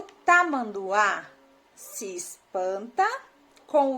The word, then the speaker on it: Tamanduá: Então, a letra que tem mais força é a última letra A, né? Até porque ela tem um acento, né?